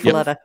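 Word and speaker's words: muffuletta: Is that how it's pronounced? Yep, I think muffaletta.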